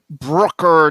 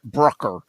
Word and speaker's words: Brucker: It's like trucker, but with a B and pronounced Brucker, not Brucker.